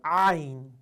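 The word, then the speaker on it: عين: 이게 아니고 자 턱을 당겨서 목구멍을 닫은 상태에서 그 상태에서 그냥 그래서 그 상태에서 아인 발음의 강세 있어요. 하면서요 인에서 풀어주셔야 돼요. 아의 강세거든요.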